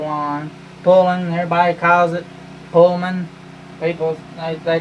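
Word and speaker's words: Poulan: pulling everybody calls it Pullman people they call it all kind of stuff but I reckon the great pronunciation is pull on like p-u-l-l -o-n like you're pulling on your boots yeah what not let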